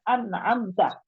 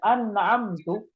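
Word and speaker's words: أنعمت: membaca e yang harusnya Harusnya kita bembaca anamta yaitu yang berarti ya Allah apa yang engkau berikan nikmat ketika seorang membacanya diganti tanya berharakat thah sehingga Dia membacanya anamtu maka akan berubah maknanya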